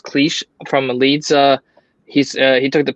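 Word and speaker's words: Klich: Somebody that kind of impressed me was I believe his name is pronounced Cleach from Leeds.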